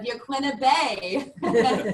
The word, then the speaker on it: Yaquina Bay: Svetlana, I was so impressed with your correct pronunciation of Yaquina Bay.